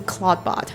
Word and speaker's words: Clawdbot: Clawdbot is very similar to Claude. So you can't really name Clawdbot. Even though it's spelled different, it's pronouncing the same.